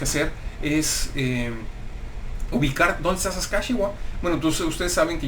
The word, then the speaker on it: Saskatchewan: La pronunciación correcta algunos dicen Saskatchewan, no es correcto, es Saskatchewan.